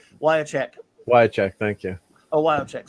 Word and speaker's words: Wiacek: Think of it this way: Wyacek. Why not cash?